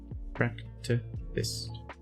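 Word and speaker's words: Fractethyst: That's the correct way to pronounce it, by the way. Fist. Fracta Fist.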